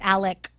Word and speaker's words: Alex: And it's Alec. Even though it's spelled Alex?